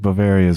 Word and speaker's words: Bavaria: Oktoberfest it feels like Bavaria's where that came from does anyone pretend to know this I know I know that Bavaria is the place that rhymes with malaria but has nothing to